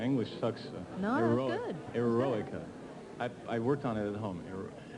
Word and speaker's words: Eroica: You pronounce it Eroica? right. Yeah, that's right. Yeah. My English sucks. No, that's good. Eroica.